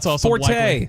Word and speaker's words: forte: Yeah, it could be an East Texas forte. Like forte is not the way you pronounce it.